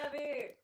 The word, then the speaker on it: Abbey: And Abbey, of course. Oh, yeah, Abby.